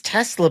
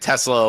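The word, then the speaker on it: TeSlaa: I think it's Tesla, but it's spelled T-E capital S L-A-A.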